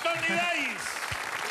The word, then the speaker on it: Tony Dize: Tony Dice.